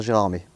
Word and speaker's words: Gérardmer: passé à jean omer la tradition orale elle veut qu'on continue à dire gérard mais une version un peu